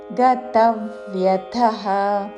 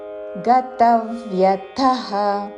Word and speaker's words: గతవ్యథః: ఉదాసీనో ఉదాసీనో గతవ్యథః తా మీద ఆఘాత చివరిలో మహాప్రాణాక్షము థ. గతవ్యథః గతవ్యథః కాదు, అల్పప్రాణతో గతవ్యథః అని కూడా కాదు. గతవ్యథః ఉదాసీనో గతవ్యథః సర్వారంభ రా తర్వాత మాకి మహాప్రాణాక్షము భావత్తు.